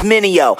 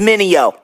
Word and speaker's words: Mineo: Try say my name, it's Minio. Say it with me, Minio.